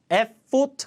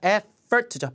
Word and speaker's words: effort: time and effort effort effort 아니라 effort죠 바른 강세 편에서 했죠 effort effort It takes